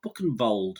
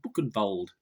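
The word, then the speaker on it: Buchenwald: the lost airmen of buck and bold yes i think that's how you pronounce it book and bold b-u-c-h-g-n-w-a-l-d book and bold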